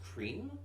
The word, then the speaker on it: Crim: Like we saw them fight a monster who is attacking Krim, or I guess it's technically supposed to be pronounced cream, like for obvious reasons.